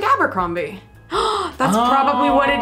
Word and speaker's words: Abercrombie: two different pronunciations yeah so it sounded like tony was going with the abercrombie like the way we would say it abercrombie but simon has perhaps it's more of the authentic pronunciation i'm not sure if